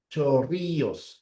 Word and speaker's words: Chorrillos: Chorríos. Chorrillos. Ya, esta es la doble L.